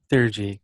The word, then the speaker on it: theurgy: So we have divination, force of will, and am I pronouncing this right? Theurgy. Theurgy.